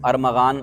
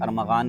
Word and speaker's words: ارمغان: ارمغان، پتہ نہیں سارے ارمغان لگے ہوئے ویڈیو پر۔ تو ارمغان، اس کا تلفظ صحیح سن لیں، اس کا تلفظ ارمغان نہیں ہے بلکہ ارمغان ہے۔ ارمغان یہ فارسی زبان کا لفظ ہے، لیکن بعض لوگ اس